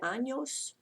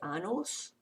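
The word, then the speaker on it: años: a little squiggly yes that's pronounced like the NY sound like mañana or is an end when you sound so because I don't want to hear if you don't say anos and you say a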